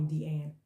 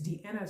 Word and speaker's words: Deanna: He called me Deanne. And I was in the meeting remotely. So I unmute myself, and I said, it's Deanna, sir. It rhymes with Vienna, sir.